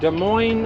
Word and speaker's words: Des Moines: on our way to Des Moines Iowa no s at the end I don't think you